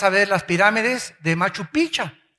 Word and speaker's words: Machu Picchu: Vete al Perú y vas a ver las pirámides de Machu Picchu, o Picchu, no me acuerdo cómo se dice. Machu Picchu. Machu Picchu. Bueno, ustedes son peruanos. Yo soy mexicano.